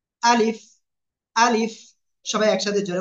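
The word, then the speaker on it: ألف: আমরা সবাই বুঝলাম যে আলিফ অক্ষরটা কোন জায়গা থেকে উচ্চারণ হবে মুখের খালি জায়গা থেকে এবং শেষে এসে নিচের ঠোঁট উপরে দুই দাঁতের আগার সঙ্গে লাগিয়ে একটু কি করতে হবে বাতাস বের করতে হবে আলিফ আলিফ সবাই একসাথে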